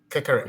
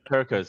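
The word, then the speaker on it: Kerkez: Liverpool is about to sign Kekeres. Let's. No. Oh. Kekeres from Bournemouth? Yeah. Did I say his name correctly? The defender? Kirkers.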